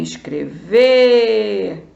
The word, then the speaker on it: escrever: eu falei escrever para para descobrir a sílaba tônica ou a forte que a mesma coisa você vai chamar também escrever você descobre que é o ver então a sílaba a